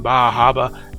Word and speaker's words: Bar Harbor: a beautiful day in bah Haba as the locals pronounce it we take a walk